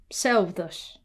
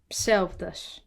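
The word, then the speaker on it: ψεῦδος: Psi or psi makes a ps sound. And that S sound is the same as the sigma sound. It's the retracted S. Ps. Ps. Pseudos. Pseudos.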